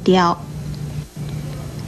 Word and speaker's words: 雕: 跟叨字很类似的是左边这个雕字，雕字的国语注音是的腰雕，一声雕。